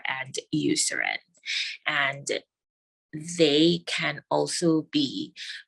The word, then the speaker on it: Eucerin: of so the most common ones used are Eucerin and Aquaphor Eucerin is spelled e-u-c-e-r-i-n Aquaphor a-q-u-a-p-h-o-r and these two are